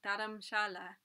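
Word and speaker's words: Dharamshala: city dhara masala or daramshala as it is pronounced in hindi means spiritual dwelling combining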